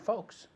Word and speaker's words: folks: Different strokes Different strokes for different folks. for different Folks is gente, right? Folks. So one more time. Dame las dos. Different folks. Different strokes for different folks. Folks. Different, Folks. la L no se pronuncia.